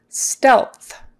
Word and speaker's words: stealth: the process stealth stealth so that e stealth stealth you've got an e that would be a short e a short e sound is in red stealth you got an l and a th again um before we had WTH with growth and now we have lth so tongue up for the L